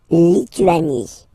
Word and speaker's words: Lituanie: La Lituanie. Remember in French, sorry, H doesn't exist, okay, so you don't pronounce it, and it's Lituanie.